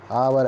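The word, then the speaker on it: hour: डावर डावर की आवाज है यह आगे इसमें साइलेंट है आवर ऐसे लिखा जाएगा ए ए कि इस मैच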